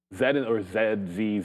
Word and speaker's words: Z: You might, Z, whatever. We're in Canada, so it doesn't really matter. Zed. We're supposed to say Zed. I say Z because that's how it rhymes.